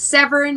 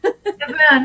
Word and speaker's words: Severn: It's Severn, like the river. Severn.